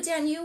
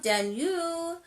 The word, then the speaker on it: Danube: don't know if it's some people say Danube some people say Dan yo Dan you um so the beautiful